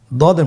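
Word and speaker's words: ضاد: সদের মধ্যে কোনো নোক্তা নেই, দদের মধ্যে নোক্তা রয়েছে। দদ হরফটি উচ্চারণ করার সময় অবশ্যই 3 আলিফ টেনে পড়তে হবে।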